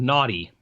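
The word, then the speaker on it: Gnawty: the game is these beavers that are called naughty you know not a GNU no a TTY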